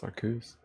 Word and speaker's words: Arceus: Arceus. True. You're right, that is how it's pronounced. It's Arceus.